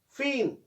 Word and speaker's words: feign: फीन, FEIGN, ड्रामाबाजी करना. जी की आवाज नहीं निकालनी है.